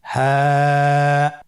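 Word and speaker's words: هاء: হ্যাঁ হরফটি উচ্চারণ ক্ষেত্রে অবশ্যই বারিক হবে এবং 1 আলিফ টেনে পড়তে হবে। আপনারা আমার সাথে বলুন, হ্যাঁ।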